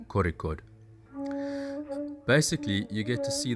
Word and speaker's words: Kozhikode: from Goa to Kozikhode, which is spelt Kozikhode, but don't say that because only tourists call it that. It is Kozikhode.